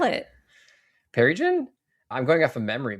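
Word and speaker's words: Pearrygin: How do you spell it? Perigen.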